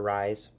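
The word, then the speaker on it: Reye: It could be pronounced Ray's or Rise.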